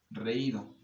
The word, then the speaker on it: reído: Recuerden que reído lleva acento en la letra I porque es una vocal débil, ¿sí? Que tiene la carga tónica y se encuentra junto a una vocal fuerte. Por eso es que se acentúa.